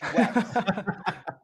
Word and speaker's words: WACS: It's wax. Wax, WACS. Whoa. Spell that again.